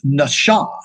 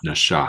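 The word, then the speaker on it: נשא: looking for here is Nasha Nasha it's a sh sound it's not an S sound Nasha that's right there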